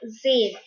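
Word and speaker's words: zehn: so the same in german we use the word zayn zayn so uh in german we say ten as zayn so try zayn fear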